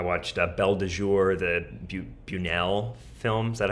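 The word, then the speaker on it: Buñuel: I watched Belle de Jour, the Bunuel film. Is that how you say it? Yeah. Oh, yeah. Yes. Really, really interesting movie. Bunuel.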